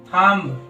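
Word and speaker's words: thumb: था टी से पहले बी साइलेंट होता है मतलब एम के बाद तथा टी से पहले भी जो होता है व साइलेंट होता है हमने कुछ एग्जांपल लिए हैं वो देखते हैं जैसे कोम बम थम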